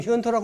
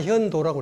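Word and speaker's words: 玄菟: 근데 지금 현토라고 하면 안 돼요. 다 현도라고 그래요. 현도라고 그래요. 왜냐? 자치통감에 토음은 도라고 나와라. 토는 이 도자라고 읽어라. 이러기 때문에 도로 바꾼 거예요.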